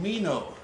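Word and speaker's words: comino: gotta clean that one kumino is the uh spanish pronunciation of that oregano does oregano go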